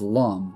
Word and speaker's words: Lum: That character right there, her name's Lum, which does rhyme with cum, of course.